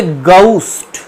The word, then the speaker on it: ghost: এটাই কিন্তু received pronunciation অনুযায়ী সঠিক উচ্চারণ, গাউস্ট। কিন্তু আমরা বেঙ্গলি ইংলিশ যারা বলি তারা ঘোস্ট বলে দিই এটাকে।